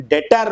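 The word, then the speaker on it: debtor: और डेब्टर DBTORS, जिसका correct pronunciation डेटर होता है।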